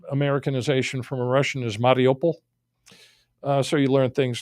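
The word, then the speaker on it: Mariupol: big battle is going on the western pronunciation pronunciation is marple you know that's how it looks how it's spelled the actual americanization from a russian is mariopol so you learn things like that you learn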